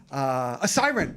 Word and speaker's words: Assaran: So that of course was my close personal friend Kate Assaran, a siren. That's how you pronounce it.